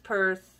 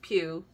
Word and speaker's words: Pugh: believe me look up florence perth or not perth yeah florence pew p-u-g-h i'm assuming that's how it's pronounced um sheer top or